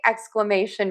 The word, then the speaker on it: exclamation: So to say exclamation mark, we have lots of syllables. Exclamation. Because we have the shun. We got to stress right before the shun. Exclation. We also have to say a ks for syllable number one. Xcl. We have thewah may and thenwah again in exclamation exclamation exclamation exclamation exclamation.